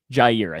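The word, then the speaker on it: Jaire: Jair, I think is how he says it.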